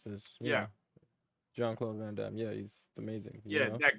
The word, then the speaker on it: Jean-Claude Van Damme: after the old school John Cloud Van Damme Jean-Claude Van Damme yeah okay you could you you know you you kind of butchered it while you're saying it you know but